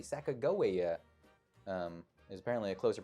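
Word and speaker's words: Sacagawea: Sack Jawia. Who incidentally apparently is pronounced with a hard G. Sakoa um is apparently a closer pronunciation.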